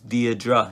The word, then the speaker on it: Deirdre: how to pronounce it, because I was thinking maybe Deirdre, because I never seen that word before, name. But then, yeah, the YouTube said it's Deirdre, it's Irish name, so I don't know